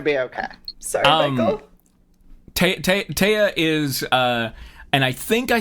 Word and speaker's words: Taya: Taya is pronounced Taya, not T.